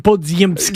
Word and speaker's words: Podziemski: So I think I called him Podziemski, you did, which is the actual Polish pronunciation.